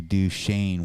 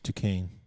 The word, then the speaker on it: Duquesne: But Next they play Duchesne, which is spelled Duquesne. It's Duquesne.